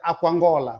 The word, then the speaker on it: Aquangola: Quer dizer, você está a encontrar aqui duas palavras, mas na sua pronúncia rápida há aqui uma absorção. Quer dizer, algumas vogais aqui desaparecem. Então, logo você vai pronunciar Aquangola, rápido.